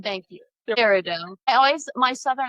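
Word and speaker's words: peridot: Parido. Thank you. Parido.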